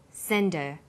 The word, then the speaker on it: send her: Because her is not stressed, we drop the initial H sound. So it's pronounced sender.